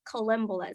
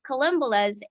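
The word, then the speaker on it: collembolas: Oh, it's columbolas. I keep forgetting how to pronounce it, but it's columbolas, and they were just everywhere.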